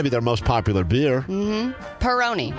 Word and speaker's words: Peroni: their most popular beer Peroni not pepperoni Peroni you dummy see I figured it